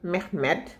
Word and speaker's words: Mohamed: De même qu'il n'est pas certain que mon oncle Mohamed, prononcé Mehmed, fut sorti de la prison où l'avait mené le pavot qu'il s'obstinait à cultiver au milieu du coton.